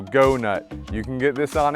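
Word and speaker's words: Goughnut: heavy duty chewers you've got the go nut this is not very well known it's spelled g-o-u-g-h-n-u-t right so go nut you can get this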